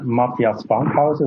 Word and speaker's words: Matthias Fankhauser: Okay, I'm Matthias Fankhauser, which would be the right pronunciation, but it's okay.